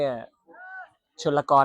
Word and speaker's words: ชนลกร: ครับ หัว หมู เนี่ย ชนลกร เนาะ ไม่ อ่าน ว่า ชลกร นะ โอเค หัว หมู เข้า